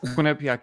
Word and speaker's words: Quinnipiac: He is a graduate of is it Quinnipiac? Is that how you pronounce it? Yes. Quinnipiac University.